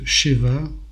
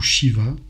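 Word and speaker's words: שבע: c'est un 7è jour le 7 se prononce Sheva ou Shiva que ça soit Cheva au féminin Shiva au masculin et prononcer Sava cela signifie saciété abondance en hébreu je rappelle que la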